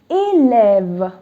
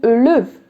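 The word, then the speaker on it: élève: and axon grav so imagine the accents where in present it would have been liv that's incorrect if you had only axon it would have been a live incorrect if you had only axon khan it would have been ulev that's also wrong so it is a lev so with this word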